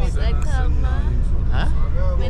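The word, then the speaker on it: Aqhama: My name is Akama. Huh? My name is Akama. What is it? Akama? Akama.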